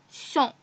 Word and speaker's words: sont: I have told you that we don't pronounce this S in both of them, and its pronunciation is sont.